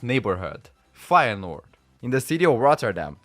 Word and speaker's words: Feyenoord: Putting together, it became Feyenoord, Feyenoord. But people from outside of the Netherlands didn't know how to pronounce the IJ, so in 1974 they changed to Feyenoord with a Y.